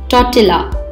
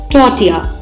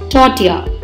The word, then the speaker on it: tortilla: often incorrectly pronounced as totala please remember this is a Spanish word and Spanish Double L is pronounced as Y therefore the correct pronunciation of the word is Tatia Tatia now listen to the